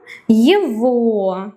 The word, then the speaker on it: его: Он, его, him. And remember that the g here we read as a V sound.